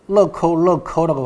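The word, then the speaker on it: 乐扣乐扣: 락앤락 보시면은 락구 락구라고 돼 있죠. 럭커 럭커라고 발음합니다. 그 락앤락하고 비슷하죠, 그렇죠?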